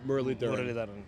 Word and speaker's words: Muralitharan: now, 30 years on, Muralitharan. Yeah, because that's I think some places they add the D. That's the right spelling because that's the way. If you pronounce it with the D, it makes life easier.